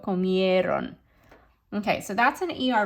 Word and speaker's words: comieron: And ellos, ellas, ustedes comieron. So watch your pronunciation on this one, right? Sometimes there's a tendency to punch the ron, but that's not where it should go. Comieron.